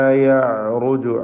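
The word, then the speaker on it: يَعْرُجُ: വമാ യഅറുജു ഐനിൻ്റെ ഉച്ചാരണം പ്രത്യേകം ശ്രദ്ധിക്കുക. ഐനിനെ അതിൻ്റെ മഖ്റജിൽ നിന്ന്, തൊണ്ടയുടെ മധ്യത്തിൽ നിന്ന് ഉച്ചരിക്കണം. തവസ്സുത്തിൻ്റെ ഹർഫാണ്.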